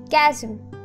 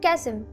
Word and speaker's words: chasm: just you sure sing uh oh wait yes it is pronounced chasm right chasm thank you Michael thank you for clarifying that you know the CH words very annoying you know see at church or CH Christmas you